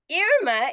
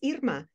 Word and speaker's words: Irma: but my name is Irma, which is the pronunciation not just in Spanish, it's French, Italian, Russian, wow. Danish. In many countries, the name is pronounced Irma.